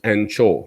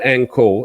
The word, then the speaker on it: Angkor: other angle and this is pronounced anchor so if you go into a pub or somewhere like that and you ask for an encore beer they will give you an ango beer not an anne chobia which is the angkor beer yeah so it's not anko it's anchor and encore is anko that makes any sense